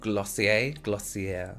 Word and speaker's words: Glossier: So today we're doing a full face of Glossier, I think that's how you say it.